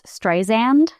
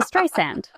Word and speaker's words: Streisand: Apparently Siri originally pronounced her name as Stysand. and she called Tim Cook and made him change it to Stray Sand.